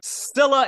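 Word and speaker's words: Scylla: remember the name of Sila and caribdis I I took Latin in school it's Sila and caribdis there you go that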